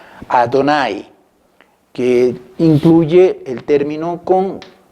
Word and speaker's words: Adonai: Y en rojo hemos puesto las vocales de este título de Dios que se conservó entre los judíos como la manera de pronunciar. Adonai, que incluye el término con 3 vocales, E, O y A.